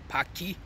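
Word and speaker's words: Pâquis: It's actually called Paki, pronounced like not like the very offensive British word, but basically spelt in the French way.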